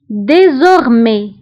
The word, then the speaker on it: désormais: كتعني سابقا déjà déjà désormais désormais فdésormais كتعني من الان فصاعدا désormais فبالنسبه لdésormais ف e نكتبها باكسون ايغو وفي اخر الكلمه نكتب اس ولكن لا ننطقها désormais من الان فصاعدا